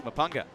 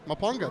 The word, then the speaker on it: Mpunga: Mapunga. Mapunga, there you go.